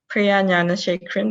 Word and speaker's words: Priya Gnanasekaran: about my full name i would say priyanya shake cream that's how you pronounce it because we were already